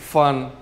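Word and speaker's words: 饭: है जी हमारे पास word F ए एन फन फन का मतलब क्या होता था खाना फूड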